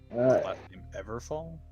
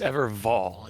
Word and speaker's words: Evervall: It was Evervall. It was like with a V.